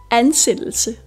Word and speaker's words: ansættelse: d som dør og ø som øm æ udtales ikke så ikke arbejde og ikke arbejde arbejde arbejde ansættelse anelse Vi starter med a som altid n